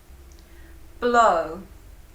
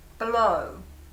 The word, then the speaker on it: blow: Blow. Actually, a lot of my students have some problems pronouncing this word, so let's have a look at the pronunciation for this verb. Blow, blow.